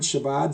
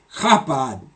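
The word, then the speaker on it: Chabad: it would be pronounced hot bod like that like you're clearing your throat but anyway there's people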